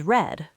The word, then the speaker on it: read: Okay, so make becomes made, sit becomes sat, read becomes read, which is spelled the same but pronounced differently.